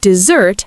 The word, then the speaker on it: dessert: Desert has first syllable stress, dessert has second syllable stress, but sweet food and abandonment sound the same when spoken.